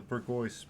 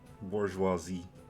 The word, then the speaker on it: bourgeoisie: the cake only the Burgos pigs get to stuff themselves with it bourgeoisie pigs that's the proper way to pronounce it in this way